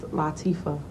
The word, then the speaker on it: Latifah: It's an Arabic name. Is it Arabic? Yes. Oh, my It's bad. Arabic, and it means delicate and sensitive, and it's pronounced Latifah.